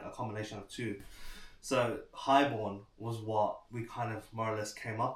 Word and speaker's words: HIGHXBORN: I just thought to add the X in it, you know, I was worried that people would pronounce it as high exorn, but then I kind of thought about it like, okay, let's try and be different.